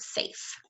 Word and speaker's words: safe: good job it is because the a says its name a T but E is silent you don't say the e it's the magic or silent E when you're marking up